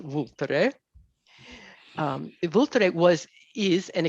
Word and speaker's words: Vulture: when you write it in English but it's pronounced vter um vter was is an extinct volcano so